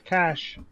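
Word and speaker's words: cache: He says cash Warrior cuz that's how it's pronounced it's not cash it's a cach a nope looking up the dictionary it's cash cash is Money Cash is a is a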